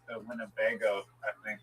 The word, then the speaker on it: Winnebago: Just the I the word Winnebago is like funny. It's Winago. It's four um syllables.